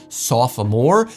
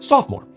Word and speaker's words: sophomore: And though it would have traditionally been three syllables, aka sophomore, these days it's pretty solidly a two-cllable word. At least where I'm from, sophomore.